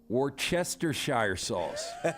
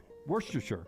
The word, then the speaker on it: Worcestershire: go I'll hear it Worchester Shire sauce Worcester sir Lance has always added a syllable mother of I can't get that war war yes yes sir Shire sauce Worcestershire Worcestershire Worcestershire is a